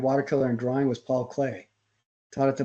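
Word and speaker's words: Klee: cool so ex excellent his last name is spelled kle Paul clay uh Whit me hi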